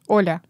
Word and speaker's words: Olya: Olya. Olya. Yes. Olya. Olya. It's almost like you don't pronounce the L. Olya. Yeah, it's like a soft, and if you write